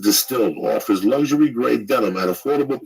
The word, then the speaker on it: DSTLD: or look terrible dstld D pronounced distilled offers luxury denim at